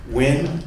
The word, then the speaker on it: Nguyen: my name is nguyen and for all those white folks out there that are gonna challenge uh pronouncing asian last names it's win with win that's that's that is